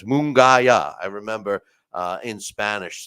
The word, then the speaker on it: Munguia: all the time but I think it's moonaya I remember uh in